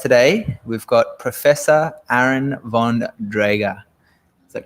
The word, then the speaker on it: Von Drager: we've got professor aaron von draga is that correct yeah is that correct that's correct except in the german language you pronounce the v as an f so it's actually fundraiser